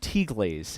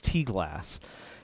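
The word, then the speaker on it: T-Glase: t-glass which i've discovered is not pronounced t-glaze it's t-glass and i finally got the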